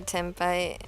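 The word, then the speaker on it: tenpai: it's you know like the consonant where your lips touch then it's an M the pronunciation is an m and so I know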